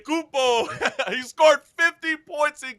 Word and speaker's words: Antetokounmpo: Hopefully I pronounce his name right. Everybody butchers it, but we still love it. Antetokounmpo, you're right. Antetokounmpo.